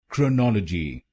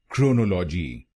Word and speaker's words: chronology: in this word you have to put stress on the second syllable chronology chronology in wrong pronunciation we put stress on the first syllable chronology so you should not